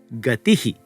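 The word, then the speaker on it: गतिः: Ramaha, gatihi, guruhu, etaihi, and so on.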